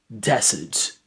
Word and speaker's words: desert: Desert, desert, dessert, desert. So dessert, the first one, this rests in the last syllable, and the second one, this rests in the first syllable.